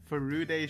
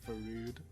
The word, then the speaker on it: Furude: Furude Shrine. I know someone commented on my pronunciation, as I used to say Farud.